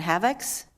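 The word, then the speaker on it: Havex: And specifically, you identified 2 malware attacks called Black Energy and Havocs. Is that the right pronunciation?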